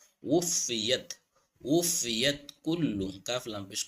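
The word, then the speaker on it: وُفِّيَتْ: ওয়াফা পেশ উফাদের ফি উফি ওয়া উচ্চারণ করতে ঠোঁট গুল করতে হবে, নাহলে হামজার উচ্চারণ চলে আসবে। উফিয়াত উফিয়াত কুল্লু কাফ লাম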